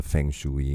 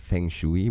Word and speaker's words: feng shui: I said feng shui, which is how we pronounce it, and he says feng shui. I guess it's the way the American would pronounce it, but yes, that's what it is.